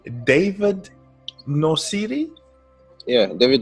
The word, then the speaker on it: Nosiri: So, ladies and gentlemen, and I hope I say this correctly, David Nosiri? Yeah, David Nosiri. Nosiri. Okay. Yeah, Nosiri, yeah. I'm trying to get everyone's pronunciation right.